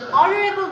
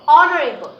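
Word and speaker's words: honorable: যাচ্ছি our teacher is অনারেবল ম্যান এখন দেখো অনারেবল এটা এখানে অনারেবল উচ্চারণ হওয়ার কারণটা কি কারণ এইচ এর উচ্চারণ সবসময় এইচ এর মত হয় না কখনো কখনো অ এর মত উচ্চারণ হয় তাহলে এখানে কি উচ্চারিত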